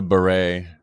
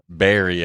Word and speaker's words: beret: all that like wow it's a beret Barry I guess she's pronouncing it and then she goes